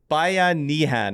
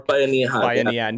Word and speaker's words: Bayanihan: Yes, so it's Bayanihan, I think is the correct way to say it. Or Bayanihan, yeah.